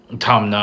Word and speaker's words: Tamna: It's written Tamra, however, Tamna, I believe, is the correct pronunciation of this.